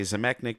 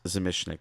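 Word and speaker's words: Zamecnik: I used to say Zemechnik, but it's pronounced Zemishnik.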